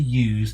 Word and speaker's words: use: Many common examples include use. This rhymes with loose when a noun. Use. It rhymes with yews when a verb.